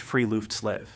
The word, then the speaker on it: friluftsliv: This is perfectly captured by the Norwegian concept of friluftsliv, pronounced friluftslev, which literally translates to free air life.